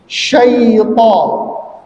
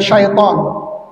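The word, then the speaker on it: شيطان: e tapi syai ya syaitan syaitan ya bukan setan ya karena kebiasaan orang Indonesia yang namanya setan kan pakai e gitu ya setan gitu ya dia seharusnya syai ya syai bukan syaai' tapi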